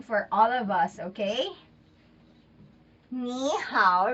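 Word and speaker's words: 你好: all of us okay nee hao right so niihau is hello so knee how we don't say it right it's too long because it's two third tones and third tone is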